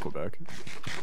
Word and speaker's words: Quebec: It's definitely Quebec.